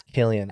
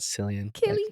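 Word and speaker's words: Cillian: that his name San I said it wrong it's Killian I'm sorry Killian sorry it's not cilian Sicilian um no but Oppenheimer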